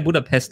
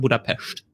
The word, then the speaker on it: Budapest: die richtige aussprache ist wir sagen herr budapest im deutschen dem ungarischen heißt es in der tat budapest na ja und das